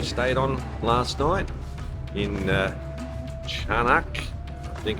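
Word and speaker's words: Çanakkale: And this is the little walkway street that we stayed on last night in Canakkale, I think it's pronounced, by the sea near the Dardanelles, where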